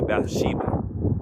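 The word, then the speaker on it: Bathsheba: But this King David, a bad by the name of Ba I'm want to pronounce her name correctly. Bath Sheba.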